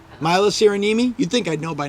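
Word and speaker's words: Syrjäniemi: I'm going to defer to Sandra for the pronunciation Sarah yemi sirenimi Milo cyranimi you'd think I'd know by now Elizabeth because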